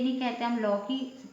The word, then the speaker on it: लौकी: जैसे लो की, ये और ये लौ की, अब दोनों में से देखो कौन सा सही है ना। मात्रा दोनों में लगी और औ की, तो ये गलत होगा, ये सही होगा।